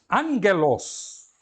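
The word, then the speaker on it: ἄγγελος: Angelos. Repare, tem aqui duas guturais, gamas, dois gamas seguidos. O primeiro gama, ele vai ser lido como um N. Angelos.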